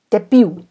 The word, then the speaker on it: debut: 好，164 debut 最后这个 T 不发音。